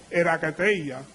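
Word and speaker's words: ἐγκράτεια: Templanza es un término que viene según el diccionario Strong griego, que se pronuncia como erakateia, que es dominio propio, específicamente dominio contra o continencia contra los deseos de la carne.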